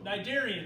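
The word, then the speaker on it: cnidarian: okay all right so nidarian that's pronounced with the c there okay this is one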